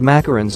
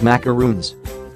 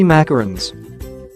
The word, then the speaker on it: macaron: histories for macaroons macaroons are often confused with macarons because of how some people pronounce the brightly colored macarons as macaroons they look and taste